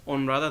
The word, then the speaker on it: Honrada: That's Honrada, the H you don't pronounce it.